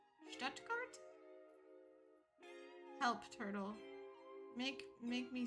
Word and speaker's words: Stuttgart: Stuttgart. Yeah, but she kept saying Stuttgart. And I'm like, don't pronounce any of the T's in the middle. Like, just fuck that.